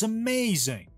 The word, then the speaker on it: amazing: amazing he was amazing he was amazing the middle part is stressed he was amazing that's fascinating fascinating again